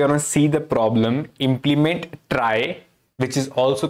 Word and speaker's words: trie: so it says that a try is pronounced as a try okay or a prefix